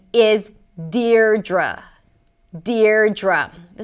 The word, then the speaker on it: Deidre: You start with the syllable 'deer', 'deer', like "my dear". And then the second syllable is 'druh', 'druh'. 'deer-druh'. Deidre.